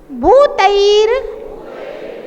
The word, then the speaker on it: भूतैर: भूतैर भूतैर, अच्छा देखिए बहुत सारे लोग इसके रा का उच्चारण नहीं कर पाते तो फिर वो भूतई गुण ही पढ़ते हैं, उनको पता नहीं है कि रा कहाँ पढ़ना है। भूतैर भूतैर भूतैर, अरे भूतेर नहीं है, तैर तैर आई की मात्रा।